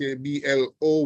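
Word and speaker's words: hablo: Mar all right so both words have stress that are to be observed the first word is ablo which means I speak I'm hearing somebody's microphone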